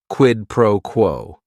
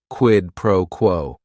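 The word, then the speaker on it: quid pro quo: It is three words. Each word is only one syllable. And if you're saying it together, the stress is kind of on that first word and that last word quidd proquo.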